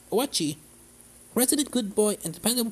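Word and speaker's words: Oatchi: Owachi, pronounced Owachi, resident good boy and dependable partner, can help with things like especially obstacles and carrying Pikmin during your adventure.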